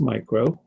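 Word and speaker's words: μ: It's pronounced micro, and it's written in lowercase, and then you have capital A for amps.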